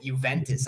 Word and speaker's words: Juventus: There's no J in the Italian alphabet, and the fact that it makes a Y sound tells me they got it from a Yugoslavic area as opposed to one of the more Spanish areas that would pronounce it as a huh sound.